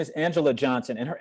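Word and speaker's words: Anjelah: is is of a comedian her name is angela johnson and her angela is spelled a-n-j-e-l-a-h johnson a-n-j-e-l-a-h which i love the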